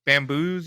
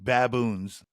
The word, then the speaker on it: baboons: bam bamboom baboom bamboom that's how you say it it's B baboons baboom n at the end baboons oh baboons yeah yeah